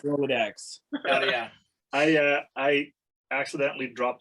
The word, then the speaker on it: Rolodex: Is it Rolodex or Rolodox? No, it's Rolodex. Rolodex. It's for sure is Rolodex.